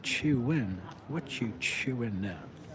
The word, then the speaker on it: Chuen: and then the next one we got is cheerwing what are you cheer why are you cheering there looks like little and a little no would you would you it's pronounced chein what you chew in now chewing now so